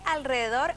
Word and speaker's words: alrededor: ¿Por qué alrededor e israelita se escriben con R, pero se pronuncian con R? como ocurre con la R en posición inicial de palabra en las palabras radar, ratón, ruidoso, se escribe simple pero se pronuncia doble. La grafía simple se mantiene aunque se haga R tras la L y la S, alrededor israelita.